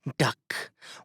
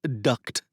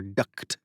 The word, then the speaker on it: duct: Duck. What is it? The crime boss sets the roll of tape aside, next to a small label printer and a lava lamp. It's pronounced duct, like air duct, Will says, before taking another sip of grum.